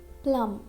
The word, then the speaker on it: plum: We can't say plumb. Okay, this is wrong. We have to speak plum.